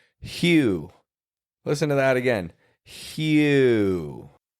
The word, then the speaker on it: Hugh: Either H U G H or H E U G H. You can spell it with or without the E. And it's still the same pronunciation.